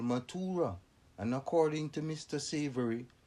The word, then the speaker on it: Mathura: Krishna was said to have been born at Mathura, pronounced Mathura, on the river Jumna, where many of his miracles were performed.